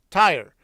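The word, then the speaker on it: Tyre: How do you say that name? T Y R E. Tire and Siden.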